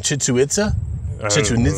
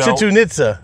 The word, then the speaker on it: Chichen Itza: I was like, and I'd been to, I'm going to butcher the name, Chichen Itza?